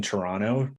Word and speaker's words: Toronto: felt quite at home in Toronto. Didn't pronounce the second T there. So hopefully. See, you sound like a pro. There we go. Gotta drop that T.